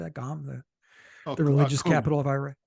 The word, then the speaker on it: Qom: Qom, the religious capital of Iran. Qum. Chewing Qum. It's spelled Qum, right?